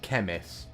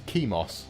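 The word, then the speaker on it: Chemos: it at first because i always want to call it chemis because i think chemist but it's not chemist it's kimos c-h-e-m-o-s we have a winner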